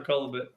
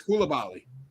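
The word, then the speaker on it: Coulibaly: I feel bad for Colabit. How do you say his name? Color, I don't know. We'll figure it out. We didn't know how to say it. It's Koulibaly.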